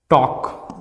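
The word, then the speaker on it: talk: वो साइलेंट होता है जैसे कि टॉक वॉक पक यहां पर एल जो है वो किसके साथ आया है के के साथ आया है इसीलिए एल क्या हो जाएगा य प साइलेंट हो जाएगा अगर एफ के साथ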